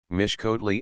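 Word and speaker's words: Mixcoatl: first some little difficulty the letter X is invariably pronounced as sh so that mixco and mexitli are Vivi Mish kotle and mesle the final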